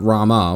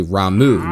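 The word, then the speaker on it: Ramuh: which is Ramu, and I had to be corrected because it's not Rama, which that's how it's spelled, and it looks exactly that. His name is actually Ramu with a beard.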